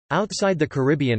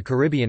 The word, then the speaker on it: Caribbean: online dictionaries claim that the stress on the second syllable is the most common pronunciation in the Caribbean itself but according to the